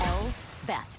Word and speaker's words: Elsbeth: That's Elsbeth. It's only two syllables, but yeah, I know.